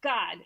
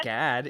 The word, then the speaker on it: Gad: curses reuben god usher okay it's god not you spelled it with an o yes that's just like it's not gad it's god that's his name it's